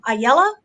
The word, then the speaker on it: Ayala: So kind of just jumping into this, White Tiger, you have the introduction of Hector Ayala. Could Mm-hmm. be pronouncing that wrong, Nope, but it's good.